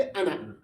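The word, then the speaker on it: أنا: वला अना इसको पढ़ते अना, अना नहीं अलिफ रोजा साइलेंट, ठीक है।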